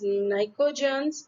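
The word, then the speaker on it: pnictogens: Group 15 elements are known as nicogens, where P is silent.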